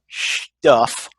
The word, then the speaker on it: Schtuff: So today, what we're going to do in this inaugural episode of Guy Stuff, and that's spelled Schtuff Stuff.